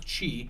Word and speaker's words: Qi: Is it Chi or Shay? It's or? Chi. Chi, okay. QI is how it's spelled, but it's QI. pronounced Chi.